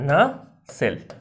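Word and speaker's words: nacelle: Next है आपका नसेल, है ना, नसेल, नसेल है ना, इसको ऐसे पढ़ना नसेल, मैंने भी गूगल पे देखा कि इससे प्रोनाउंसिएशन होता है इसका, है ना, नसेल।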